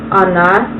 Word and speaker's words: Она: He is on, she is Она, and they is Они.